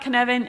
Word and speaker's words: Cynefin: the hardest thing about Kevin is pronouncing it it's a Welsh word so I would like